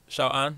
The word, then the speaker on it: 小安: I think that Xiao An, that's how you say his name?